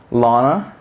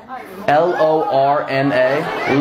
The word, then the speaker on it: Lorna: be real be present what is your name Lana you're saying exactly what I'm saying Lana Lana did I not just say that spell it l-o-r-n-a Lorna not even a real name Lorna what's